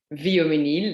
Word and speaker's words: Vioménil: series and so today i will talk about viomenil that's how you pre pronounce it uh easier to pronounce than chatunu